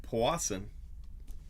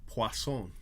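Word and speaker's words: Puason: vera nice card and robert powassen no no i said his name wrong robert poisson to 100 i've got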